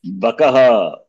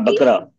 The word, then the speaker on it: बकः: How do you say this? Bakaha. Bakaha. Ba. Okay. Not Bakara. Bakaha.